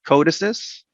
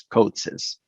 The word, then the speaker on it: CODESYS: for controller development system some people call it codices and some of us call it coats's the